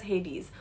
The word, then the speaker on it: Hades: So if you look at his spelling, it looks as if it's Hades, but it's actually Hades, it's pronounced as Hades. Then Aphrodite, okay, she's a